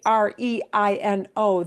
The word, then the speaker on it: reino: And in Spanish, when you see R-E-I-N-O, the E and the I both get pronounced, slid together, but they're both distinctly pronounced.